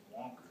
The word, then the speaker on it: Wanker: I'm the new 5th District Judge, answered Wanker, pronounced Wonker, so it's Wonker, W-A-N-K-E-R, it's Wonker, so it's Judge Wonker.